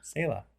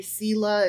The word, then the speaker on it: Selah: Apparently, Selah is Selah.